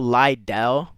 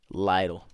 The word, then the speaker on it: Lidl: Lidle is spelled L I D L. It's liel. So, Lidell, I'm not gonna lie.